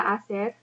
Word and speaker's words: hacer: So clase repite, ¿Qué te gusta hacer? Make sure you do not pronounce that H, hacer.